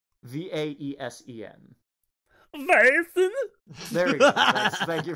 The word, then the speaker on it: Vaesen: The Lost Mountain, which features, I don't know how to pronounce it, Vasen? The Scandinavian horror role-playing game. How's it spelled? Vaesen. Vaesen? There we go. Thank you for that accurate pronunciation, Ben.